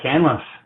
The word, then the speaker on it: Canlis: So pronouncing it right, is it Canlis or Canlis? It is, yeah, Canlis.